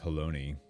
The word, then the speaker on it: Halone: When I found out that it's actually pronounced like baloney, it blew my mind.